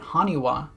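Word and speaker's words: 埴輪: While in hiragana, the character for ha is sometimes pronounced as wa, so putting them together with this, you get Haniwa, the terracotta figures that the gyroids are based on.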